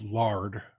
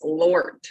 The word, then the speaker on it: Lord: intended I love it the people in the South pronounce Lord as lard um which is what many of us think of the Christian God where I'm from it's Lort with a t instead